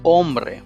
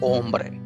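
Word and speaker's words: hombre: silent the examples are ombre it's man says it is spelled as h-o-m-b-r-e but h is silent so the pronunciation is ombre great yellow ice again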